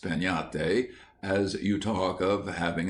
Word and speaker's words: piñata: But everywhere children would be talking about breaking a piñate, pronounced peñate, as you talk of having a tree.